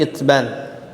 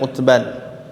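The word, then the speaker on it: عتبان: Bukhari dan Muslim, dari Itban, ya, dengan dikasrohkannya ain, dibacanya bisa Itban atau didomahkan ain, Utban, ya, bisa Itban atau Utban bin Malik bin Amr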